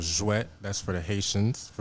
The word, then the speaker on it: Jouet: Just to let you know, I was saying J-Wet. And Jouet. that's surely not how you pronounce it. Jouet. Jouet, yes.